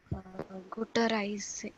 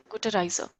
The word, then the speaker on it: Gute Reise: Guter Reise. Guter Reise. Yeah, Gute Reise.